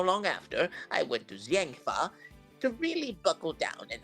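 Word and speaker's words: Zheng Fa: I don't remember how they say it in games, but I think it's pronounced Jangfa. Jangfa. Yeah. Sha. Because it's supposed to be like Chinese.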